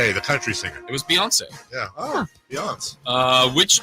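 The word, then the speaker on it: Beyoncé: you guys it was uh I think it's pronounced beon be beon beon beon the country singer it was Beyonce yeah oh Beyonce uh which two quarterbacks have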